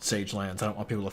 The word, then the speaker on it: Sage Lands: out here into the saga lands it's actually pronounced sage lands I don't want people